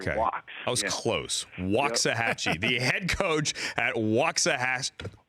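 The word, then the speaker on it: Waxahachie: signor and John waxah waxah hatchee yeah they pronounce it waxah hatchee like wa that was close waxah hatchee the head coach at waah waah hatche easy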